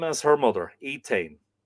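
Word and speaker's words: Étaín: They had one daughter that was called by the same name as her mother, Etain. Apparently, this in Middle Irish, this name would be pronounced Edain.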